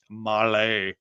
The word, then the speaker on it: Mahle: And for the podcast listeners, Molly is spelled Mahle. Molly. I think it's probably how it would be said to all of us country folks.